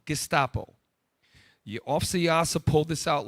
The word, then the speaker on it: Gestapo: pull up the term Gestapo. Thank you. I pronounced it wrong. Gestapo.